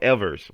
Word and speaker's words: Evers: own you know charles ever took over charles evers so i got pronounced that s charles evers took took over